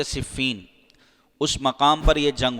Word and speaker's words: صفین: کا نام تھا صفین۔ صحیح تلفظ اس کا کیا ہے؟ صفین۔ بعض اس کو صفین پڑھتے ہیں، صحیح تلفظ ہے صفین۔ اس مقام پر یہ